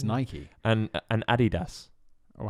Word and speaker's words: Adidas: and Adidas. Oh, how else do you say that? They say Adidas.